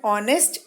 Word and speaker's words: honest: word is honest children I'm calling it honest because H is silent though the letter H